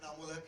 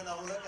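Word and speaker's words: Inaamulhaq: मेरा नाम बड़ा बिगड़ता जा रहा है। मैं शहर में नाम कमाने आया था, कभी स्पेलिंग और कभी प्रोनाउंसिएशन। मेरा नाम इनामुलक है एंड आई एम नॉट a tourist. My name is Anamulak and I am not a tourist, so please make a correction.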